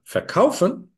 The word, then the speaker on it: verkaufen: But verkaufen, the word stress is on kauf. It's never on the inseparable prefix.